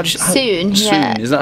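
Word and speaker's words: Sŵn: How do you Soon, yeah. Soon. Is that how you say it? It means sound in Welsh.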